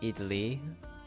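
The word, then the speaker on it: idli: holes uh sure okay I looked up how it's pronounced it's idy like that idly to an idly plate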